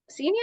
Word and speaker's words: Xinia: And this girl was like, Senior? And I was like, yeah. I was like, wow, you got the pronunciation right.